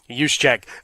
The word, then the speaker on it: Juszczyk: You'll have Juszczyk finding his way out into pass patterns. Remember, the J is silent.